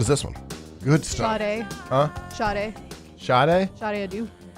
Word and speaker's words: Sade: S-A-D-E?